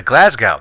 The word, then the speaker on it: Glasgow: in relationship to Glasgow they go all mate it's Glasgow I was like oh excuse me it's glasgow glasgow glasgow and so from that point on I've never forgotten glasgow glasgow it's pronounced glasgow and bro that has